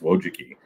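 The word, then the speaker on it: Wojcicki: So those children, the two Wiki, their last name is Wojuki. Don't ask me to spell it, but it's pronounced Wojuki. Um Susan and Anne Wojiki, uh one YouTube executive, early Google employee ended up running YouTube.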